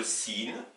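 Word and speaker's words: سين: Donc, alors, à propos de ces paires de lettres, vous avez par exemple la lettre sin, l'équivalent du S français, qui s'oppose à la lettre sod.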